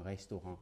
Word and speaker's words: restaurant: Restaurant qui s'écrit exactement comme restaurant en français mais on dira restaurant.